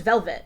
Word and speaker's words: Velvette: v l v TT yeah it's but it's pronounced velvet yeah but it was originally name she was